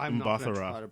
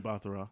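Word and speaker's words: Mbatha-Raw: Mbathara. I know how to say her last name. Mbathara. Yeah. Mbathara.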